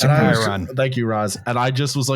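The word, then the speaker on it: chyron: It's a Chiron.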